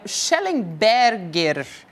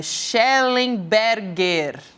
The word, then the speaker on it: Shellenberger: Inclusive a gente tem o ativista americano, o Micael Schellenberger. É Shellenberger. É isso, né? A pronúncia do nome dele.